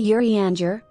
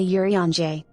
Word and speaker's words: Urianger: urgency and necessity I you say yurianger I say Yuri anje well that's how they spell it in a way that Calico will pronounce correctly now we know oh